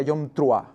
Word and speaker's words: Yom Teruah: Antes de nada, recordar que en hebreo es Yom Teruah, el día de la fiesta de las trompetas, le llaman, o la traducción o la pronunciación correcta sería Yom Truah, ¿de acuerdo?